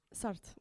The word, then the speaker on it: Sartre: Jean-Paul, and I can't pronounce this because I don't have a French accent. Jean-Paul, is it Sartre? Sartre, okay, said, "Freedom is what you do with what's been done to you."